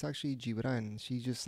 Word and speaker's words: Gibran: No, it's not, because the G in Spanish is pronounced like an H when it's followed by a vowel.